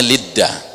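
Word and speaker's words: לוד: Dalam bahasa Ibrani dibacanya Lidda, ya.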